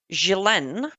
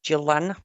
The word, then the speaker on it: Ghislaine: So let's just start with Ghislaine Maxwell. I know probably here you pronounce it Ghislaine or Gillen.